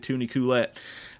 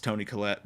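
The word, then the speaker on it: Toni Collette: just like they did Tooney coolette uh I don't know it's Tony Colette but I like to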